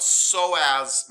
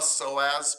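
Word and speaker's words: psoas: the minor how about so as major don't pronounce the P just the S so as major I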